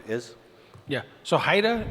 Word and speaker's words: HIDTA: background on exactly what Haida is? Yeah, so Haida is an acronym that stands for, it's spelled HIDTA. It's a high-intensity drug trafficking area.